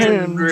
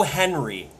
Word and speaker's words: Hendry: Michael Cole has taken to overpronouncing the D in Hendry's name because he could not fucking pronounce it for a calendar year. He would call him Joe Henry every single goddamn time.